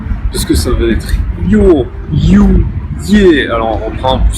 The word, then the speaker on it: Ю: jouer, ce sera comme ça que ça se prononcera. Ensuite, le suivant c'est you.